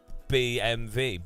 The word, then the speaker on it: BMW: never heard anyone say BMV B BM BMV you don't but you know it's not you pronounced W as a v rather than a w so not BMW BM